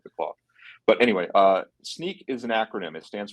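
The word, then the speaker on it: Snyk: up with it it's uh and it is pronounced sneak yeah according to him sneak uh and you really had me freaked out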